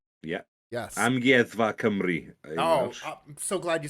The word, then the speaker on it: Amgueddfa Cymru: Amgueddfa Cymru.